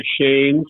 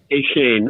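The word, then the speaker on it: Achane: line you know uh ashamed from Texas A M I don't know if I pronounced that right yeah yeah hey Shane okay close you know so there's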